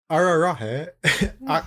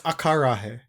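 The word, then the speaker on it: acarajé: Ararahe. Oh wait, it's akarahe.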